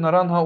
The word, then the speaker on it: naranja: İspanyolca'da biliyorsunuz naranja diye yazılıyor, naranja okunuyor.